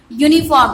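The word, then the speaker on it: uniform: Insect and यूनिफॉर्म, okay यहाँ पे ए लगेगा, क्या लगेगा? यूनिफॉर्म में ए लगेगा, बिकॉज इसका जो वाउल है यहाँ पे वाउल से स्टार्ट हो रहा है, लेकिन प्रोनाउंसिएशन क्या है? यूनिफॉर्म।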